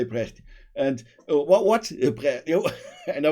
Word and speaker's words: Brecht: it somewhere, and then I was how is pronounced? Tell me, and you said just say Brecht.